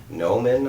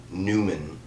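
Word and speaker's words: Numen: being shows up and his name is noman i think it is um or newman is spelled in n-u-m-e-n newman um but it's basically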